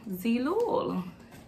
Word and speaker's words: Zeelool: prescription in it and this website is called see loool it is spelled EEE lol a lot of people are